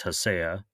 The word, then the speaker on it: Hacea: I say haya. A lot of people say ha. It's kind of whatever whatever flows.